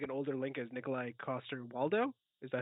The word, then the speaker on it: Nikolai Coster-Waldau: For some reason, I would love to see like an older Link as Nikolai Coster-Waldau.